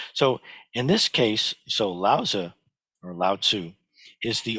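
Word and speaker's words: Laozi: But in this case, when we write it in pinyin, it looks like it should be Lao Zi or Lao Zi, yeah, Lao Zi, but it's actually pronounced more like Lao Tzu.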